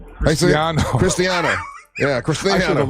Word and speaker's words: Cristiano: Cristino. Cristiano.